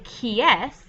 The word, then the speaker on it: qui est: This whole little part, whoops, right here, is just pronounced like the letter S. So when you say qui est, you are asking who is it, or who is that?